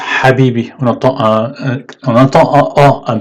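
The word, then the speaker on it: حبيبي: Ici, on entend ha, ça se prononce habibi.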